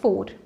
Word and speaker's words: four: branches next is number four you don't have to roll your tongue when you are pronouncing the letter r this is very